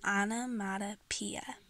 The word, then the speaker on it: onomatopoeia: So if you can't pronounce it, you can search it up and figure out how to pronounce it. It's onomatopoeia.